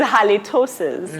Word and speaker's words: halitosis: It's halitosis. Oh. Yes, it's actually a medical condition. Oh, yeah. Okay, Chile, what do you think? Halitosis disease is a very serious disease.